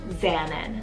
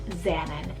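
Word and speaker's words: Xannon: on today's list so this is the name xanan spelled x-a-n-n-o-n xanan this one is a possible african rooted name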